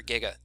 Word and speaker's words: giga: Mega and Giga and it's a hard G for Giga don't listen to Doc